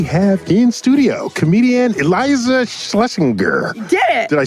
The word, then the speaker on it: Shlesinger: And we have in studio comedian Iliza Shlesinger.